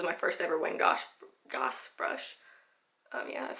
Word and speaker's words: Goss: know this is my first ever wing gosh Goss brush yeah that's how you say it um